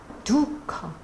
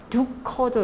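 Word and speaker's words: दुःख: 걸 사르가 하는데 이렇게 사르가 중간에 들어갈 때는 어떻게 읽어야 하냐면 그냥 흐 발음 읽으시면 됩니다 두커 두 커죠 여기는 다음이니 두커 허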